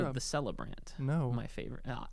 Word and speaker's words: Celebrant: The celebrant. No, my favorite. So, it's a K sound. It's a hard We talked about this C is a K.